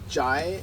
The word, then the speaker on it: chai: Like sometimes it's pronounced as cha, like in Punjab region. But mostly, it's chai.